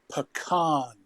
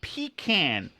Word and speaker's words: pecan: here Duck Duck Go Dr Cheswick it is pronounced pecan pecan pecan is what your grandmother kept under